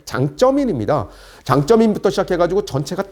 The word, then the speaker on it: 장쩌민: 그 당시에는 이제 강택민이라고 중국식 발음은 장쩌민입니다.